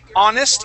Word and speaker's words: honest: So here, honest, even though it starts with an H, the sound at the beginning of the word is ah, which is a vowel sound.